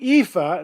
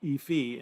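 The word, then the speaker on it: EAFE: the globe and the ifa and that's how it's pronounced maybe i've never heard it efi index i've always heard ifa europe australia and the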